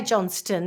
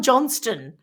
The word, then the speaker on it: Johnston: So in 2015, Damien Johnston, and I say Johnston because it's got a T in it. Makes sense. In that's how you pronounce it, yes? Well, it's Damian Johnston.